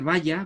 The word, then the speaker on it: Valla: Yo prefiero pronunciar Valla, ¿verdad?, en esta línea.